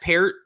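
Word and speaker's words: Peart: time Neil per spelled spelled the same way pronounced per God Rest his soul I remember that now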